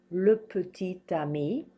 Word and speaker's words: petit ami: Now here we have le petit ami. I'm pronouncing this T because it comes right in front of this A.